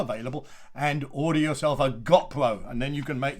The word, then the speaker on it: GoPro: this company which is gopro all right gopro now some people you may have heard giving it different pronunciations but they're just people who don't know anything about youtubers and they don't know anything about how to make a film on a bike because they use the wrong pronunciation so everything else is